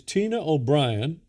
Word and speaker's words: O'Brien: But my guest is Tina O'Brien. Is that pronounced correctly?